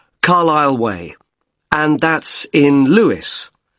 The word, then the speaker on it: Carlisle: i s l e you don't pronounce the S Carlisle way and that's in Lewis